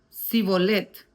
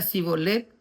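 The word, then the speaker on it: shibboleth: Si él respondía, "No, entonces le decían, "Ahora pues, di sibolet." Y si él decía cibolet porque no podía pronunciarlo correctamente, entonces le echaban mano, le degollaban junto a los vados del Jordán.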